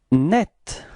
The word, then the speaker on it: net: Net, repeat, net, okay, and it's quite interesting because the feminine form is written in a different way, but it's pronounced the same way, so it's net.